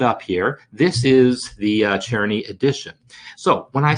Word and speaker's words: Czerny: I kind of feel like that's how I've pronounced it my whole life. Czerny, C-Z-E-R-N-Y, right?